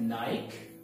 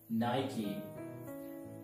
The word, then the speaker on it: Nike: Next one is usually we pronounce it नाइक, बट नाइक की जगह हमें इसे प्रोनाउंस करना है Nike, Nike.